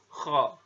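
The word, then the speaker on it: خ: Huruf kha ini dikeluarkan dari pangkal tenggorokan ya. Jadi diucapkan itu dengan mengalirkan nafas. Jadi ketika ngomong kha gitu, ada nafas di sana. Dan atau kalau mau lebih gampangnya gitu, pengucapan huruf kho ini persis terdengar seperti orang yang tidur dalam keadaan mendengkur gitu ya, atau ngorok gitu ya.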